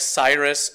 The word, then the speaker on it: Cyrus: So I like to build off of the kind of name equity, if not necessarily brand equity, that Miley Cyrus has built in pronouncing that name.